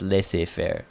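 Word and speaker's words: laissez-faire: feel like the the the way she pronounced dejori is a result of her accent because that is not la say fair it's less affair right so like again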